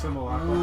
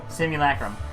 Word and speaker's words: simulacrum: It's pronounced simulacrum. Literally, simulacrum.